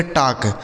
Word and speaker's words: talk: की मात्रा और देखिए यहाँ एल है तो यह एल जो है साइलेंट है, मतलब इसको नहीं पढ़ा जाएगा। इसके से पढ़ा जाएगा क, इसे पढ़ेंगे टाक।